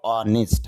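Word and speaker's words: honest: ইট is better to বি অনেস্ট, যদিও অনেস্ট বলি তবে শুদ্ধ উচ্চারণ হবে অনেস্ট, আর এখানে এইচ এর উচ্চারণ হবে না।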